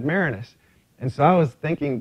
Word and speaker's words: Maraniss: But the great thing was, when I was interviewed by Chuck Todd, he kept mispronouncing my last name. He was saying Maraniss instead of Maraniss.